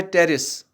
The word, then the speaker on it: Pteris: एक तो है मार्सिलिया, मार्सिलिया है, और एक है एजोला, एजोला, और है टेरिस और ड्रायोप्टेरिस, PTERIS, टेरिस, इसको टेरिस हम पढ़ते हैं।